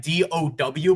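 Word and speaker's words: Dao: So think of my name as like Dow Jones. So it's spelled you might think it's like DOW, but it's the A and O. It's something like Asian related. So it's basically it's pronounced like DOW.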